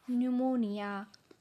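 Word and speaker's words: pneumonia: काही शब्दांमध्ये काही अक्षर लिहिली तर जातात पण त्यांचा उच्चार होत नाही कारण ते तिथे सायलेंट असतात जसं की न्यूमोनिया न्यूमॅटिक न्यूमॅटिक्स सायकॉलॉजी एक्सट्रा या शब्दांमध्ये तुम्हाला त्या शब्दांच्या स्पेलिंग मध्ये पी लिहिलेला दिसतो पण त्याचा उच्चार तिथे होत नाही कारण तो सायलेंट आहे तर पी कुठे कुठे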